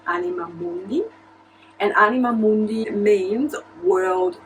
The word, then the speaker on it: Anima Mundi: So in Italian we pronounce it Anima Mundi, and Anima Mundi means